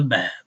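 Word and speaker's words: باب: right here is a bab. Hada bab, right? So if you're not reading Arabic and you're writing phonetics, just write a B, two A's and a B, or whatever will help you pronounce it, and start learning this to be a bab.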